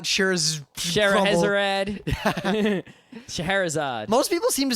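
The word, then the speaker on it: Scheherazade: that hard to say that word people not sherade not sherad shaherzad most people seem to say sherad the next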